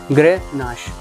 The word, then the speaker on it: Grenache: चीज एक ही है शो गिरनार आप कैसे प्रोनाउंस करते हैं इट्स ग्रह नस ग्रे नस ग्रे नस और सेकंड